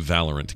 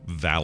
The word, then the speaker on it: Valorant: Valorant. It really is. Valorant, because hate it. Is it spelled like Valor Ant? Yeah, Valor Ant, like the bravest ant in the land, you know?